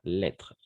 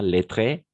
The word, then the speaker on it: lettre: Lettre. Lettre. On ne prononce pas le E à la fin. Pas lettré, lettre.